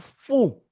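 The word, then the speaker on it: fou: OU is pronounced oo. Let's say oo. Oo. Oo. You have foo. Foo meaning crazy. So the sound oo is represented by OU.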